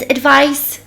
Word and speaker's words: advice: somervice jak najbardziej więc advice i zwróćcie uwagę na wymowę advice i tam na końcu mamy jak Sandra i to jest bardzo bardzo ważne bo teraz przechodzimy do